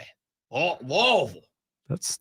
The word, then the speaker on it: Louisville: Oh, Louisville. That sounds. You gotta say it like you're sounds kind of nasty. Like you're a drunken British guy.